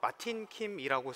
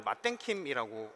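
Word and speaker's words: Matin Kim: 이제 궁금했던 건데 사실 영어로 쓰는 거는 matin 킴 이렇게 해서 마틴 킴이라고 쓰는데 발음은 이제 맞땡 킴이라고 하셨더라고요 그게 어떤 물 드시고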